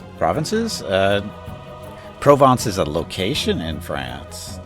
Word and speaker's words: Provence: But it's not pronounced province, it's Provence.